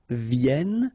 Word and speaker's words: viennent: And then ils viennent. So remember, as usual in French, when we talk about conjugation, ENT at the end, you don't pronounce it here.